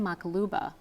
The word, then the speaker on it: maqluba: specials, and I ended up ordering a lamb maqluba. Which Am I is what?